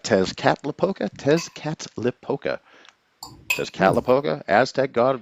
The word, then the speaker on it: Tezcatlipoca: Tezcatlipoca. Tezcatlipoca.